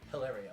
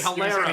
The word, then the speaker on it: Hilario: Hilario. Do you know I've been saying it wrong all these years? I just say Hilaro.